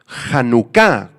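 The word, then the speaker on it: חנכה: es muy interesante es la palabra aramea hanuka con acento en la a y K hanuka significa simplemente consagración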